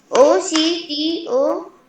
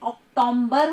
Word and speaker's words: October: OCTOMBER। मेरे प्यारे बच्चों, प्लीज अक्टूबर में म का साउंड बिल्कुल नहीं आता है, अक्टूबर हो जाता है वो, तो एम नहीं लगाना है।